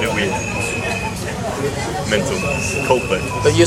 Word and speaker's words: Coldplay: You said that like it was 2 words. Coldplay. How do you say it? Coldplay. Coldplay. And then You join the D to the P.